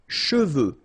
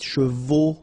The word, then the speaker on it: cheveux: Usually this one is a bit of a problem because some of the students normally pronounce it chevaux, okay? So try to keep in mind that you get E-U here.